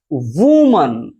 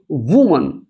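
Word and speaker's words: woman: है कि वहां पर ओ से छोटा उ की जो मात्रा जो साउंड होता है उसको हम लोग देखने का प्रयास करते हैं। जैसे मैं कहूं वूमन वूमन अब देखिए यहां पर इसे पढ़ेंगे वूमन वूमन अब यहां पर जो उ है इसे कुछ छोटा उ की मात्रा के साथ हम लोग इसको पढ़ रहे हैं।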